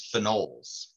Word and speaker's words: phenol: we refer to as phenols a phenol and you kind of over emphasize the o in phenol to differentiate it between when you have